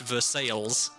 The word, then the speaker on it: Versailles: And she said, "Well, no, it's pronounced Versailles cuz cuz of course it is." Versailles.